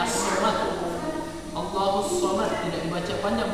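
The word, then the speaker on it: الصَّمَد: Jadi tidak dibaca Al-Somad. Tulisannya di situ Al-Somad, tapi bacanya As-Somad.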